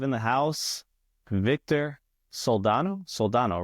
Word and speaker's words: Soldano: Soldano, right?